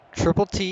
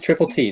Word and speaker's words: Triple T: We got Triple T. Hold Thank on. you. I So got Oh, is you it- actually pronounce it right. Yeah. It is Triple T, not Triplet.